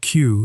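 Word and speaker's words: queue: The word Q is pronounced exactly the same whether you pronounce all five letters or just the first one.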